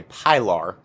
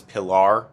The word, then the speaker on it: Pilar: is the crkt large i'm going to say pylar in d2 i know that that's not how you pronounce it i think it's pillar or something like i've i don't know